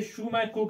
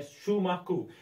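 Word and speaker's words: Schumacher: इसे Shumaku कहा जाता है. He was a German born but British economist. ये British economist है. इसका इसको pronounce किया जाता है Shumaku.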